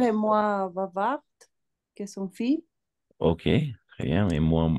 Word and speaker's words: fils: Le père est moins bavard que son fils. Ok, très bien, et moins bavard que son fils. Très bien. Dans ce cas-là, oui, on va prononcer le S, mais pas le L.